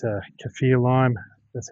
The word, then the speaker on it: Kaffir: It's a Kaffir lime, that's how you say it.